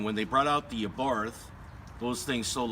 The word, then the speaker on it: Abarth: was the Fiat 500 Abarth which is pronounced a Barth but it sounds more natural saying Abarth but anyways Fiat when